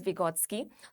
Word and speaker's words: Vygotsky: The correct pronunciation is Vygotsky.